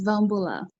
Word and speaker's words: Vaubula: do you say your last name oh it's van bula yeah for coming um donna has a production